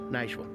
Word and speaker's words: Nashville: himas this is Nash it's not supposed to be two syllables this is Nashville can run it together Nashville this is Nashville be